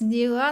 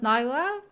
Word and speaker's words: Nilah: was mispronouncing her name it's Nila not Nyla but yeah second of